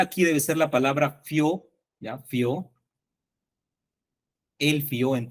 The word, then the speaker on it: fio: El fió no se debe tildar porque la mayor fuerza de voz está en la O y acá hay un dictongo, entonces se convierte en un monosílabo fió.